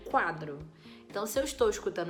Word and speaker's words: quadro: então por exemplo na palavra quadro quadro eu escuto o barulho do u eu não falo cadro eu falo quadro então se eu estou